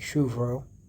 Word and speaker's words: Shubro: This is pronounced as Shru and Bro with a BH sound, so it's like more like Vro. So it's like Shuvro.